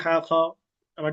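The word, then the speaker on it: ح: হাটাকে পাতলা করে উচ্চারণ করতে হবে। এবং আমাদের যে হলক আছে এই হলকের মধ্যখান থেকে। সামনে এগুলো দেখাবো সরাসরি। এই হলকের মাঝখান থেকে পাতলা করে উচ্চারণ করতে হবে এবং একটু চিপে চাপ দিয়ে যাতে করে হা এর উচ্চারণটা পরিপূর্ণ হয়। হা বলেন চেষ্টা করেন হা উচার সময় চাপ হবে। মনে করেন আমাদের মুখ থেকে এক ধরনের গরম বাতাস বের হবে।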